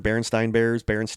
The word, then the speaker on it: Berenstain: But I pronounce it Berenstein. Yeah, not Stein. Yeah. I heard Berenstain Bears, but everybody remembers it being Stein, and it's not. It's Stain, Stain, and everybody is like,